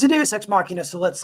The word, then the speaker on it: Deus ex machina: And I will pronounce it right from now on. Deus ex machina.